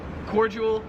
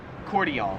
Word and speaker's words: cordial: So yeah, in America we pronounce it cordial, whereas here in Australia it's pronounced cordial.